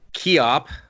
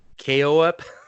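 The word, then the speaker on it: Koepp: It's a drama horror mystery, I guess, and it's written by David Keop. Wow. Nope. Quap? Pig Flop. There. Well, the K is silent, so it's like OEP, KOEP.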